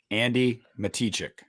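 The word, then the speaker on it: Andi Matichak: pronounced her name wrong her name is pronounced andy matichek um yes busta um she i i i used to i gotta get out of culinary andy mata check it it's andy matichick but um yeah i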